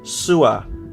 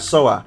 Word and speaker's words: Sua: by the way like you pronounced my name as sua not SOA that's how you say it got you okay sua